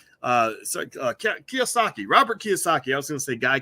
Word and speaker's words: Kiyosaki: It looks like Kiyosaki, Robert Kiyosaki.